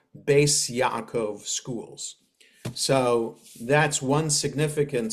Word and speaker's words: Beis Yaakov: But the Ashkenazi way is a letter Tuf with a dot is a T, a letter Tuf without a dot is an S.